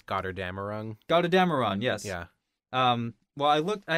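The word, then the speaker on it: Götterdämmerung: I don't know because it's German, but I think it's Gotterdammerung.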